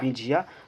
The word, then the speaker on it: बिंझिया: इसका ट्रिक बनाए हुए हैं झिया झिया के काटबो। ठीक, बिंझिया, झिया झिया, तो यहाँ से प्रोनाउंसिएशन होगा बिंझिया।